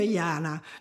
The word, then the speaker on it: Yana: Oh, yeah, look, she sometimes blames me for naming her Yana because it rhymes with drama, but, you know, she didn't generate the drama and she was just young, that's all.